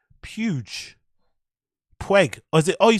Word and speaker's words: Puig: Pueg. Or is it? Oh, you're saying Pueg. Not Puge. Pueg.